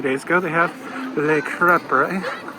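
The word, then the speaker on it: crêpe: They have Le Crepe. Yes, it's crepe, not crepe.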